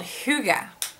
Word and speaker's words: hygge: I'm going to teach you a word called hygge. It's spelled H-Y-G-G-E.